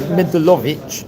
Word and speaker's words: Mendelowitz: Moshe and Batsheva Mendelowitz Rabbi Shraga Feivel pronounced his family name Mendelovich, apparently, and his mother died when he was only 10.